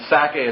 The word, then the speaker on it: Sacae: picture the word Isaac, and Sacae is S-A-C-A-E. It has the syllable of sac, Isaac or Itzhak right in it.